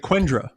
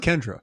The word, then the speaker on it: Quendra: Kendra with a qu Kendra with a qu like quendra quendra but it's pronounced Kendra Kendra q u n